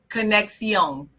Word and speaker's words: conexión: This week's word is conexión. And I promise you that's how she pronounced it on Google.